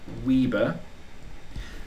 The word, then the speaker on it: weber: of the weber it's spelt weber but we pronounce it weber which is a capital w and a little b so we can say that one weaver is one tesla meter squared not tesla per